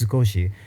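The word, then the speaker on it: 少し: i went like oh that's the word sakoshi that's just the american pronunciation series yeah it's sukoshi and so i as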